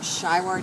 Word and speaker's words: Schiwart: How do you say his last name? Gary Robert Shywart is SCHIWART.